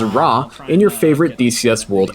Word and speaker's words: RWR: the radar warning receiver often shortened to rwr and pronounced as raw in your favorite dcs